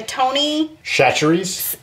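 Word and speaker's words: Tony Chachere's: a Cajun or Creole seasoning and it's the Tony shatteries I'm making your chicken and broccoli stir-fry tonight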